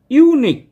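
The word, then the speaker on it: unique: এন এন এসডিও ও ইউনিক ইউনিক এখানেও কি এখানেও প্রথম লেটারটা ইউ দিয়ে শুরু হচ্ছে ইউনিক কিন্তু উচ্চারণ হচ্ছে ওয়াই ইউ মানে কনসোনেন্ট সাউন্ড প্রথমে আসছে যেহেতু কনসোনেন্ট সাউন্ডটা প্রথমে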